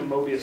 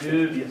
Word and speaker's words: Möbius: in here seen a mobus strip before a what a m strip or more correctly pronounced Mia strip so you can all